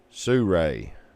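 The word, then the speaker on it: Sirui: Surray. According to YouTube videos, it's similar to saying Sue and Ray. S I R U I. And there is no A.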